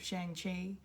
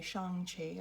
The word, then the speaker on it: Shang-Chi: today to bring you my spoiler-free review of shang chi uh or i should really say shang qi i need to now pronounce it correctly now that i know um